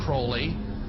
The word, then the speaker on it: Aleister Crowley: He likes to have his name pronounced Crowley to rhyme with holy.